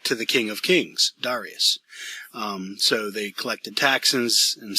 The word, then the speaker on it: Darius: So Cyrus does most of the conquering, but it's Darius, his son, who, or Darius as some people pronounce it, who ends up being the greatest king that the Persians had.